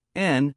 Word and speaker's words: and: And is usually pronounced N or N when it comes before consonant or vowel sounds.